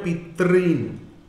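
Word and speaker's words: পিতৄণ: এখানে ঋকার আছে, এখানেও ঋকার আছে, দুটো ঋকার মিলে কি হবে? দীর্ঘ ঋকার, অর্থাৎ এইরকম, অর্থাৎ পিতৃণ, উচ্চারণটা হবে পিতৃণ।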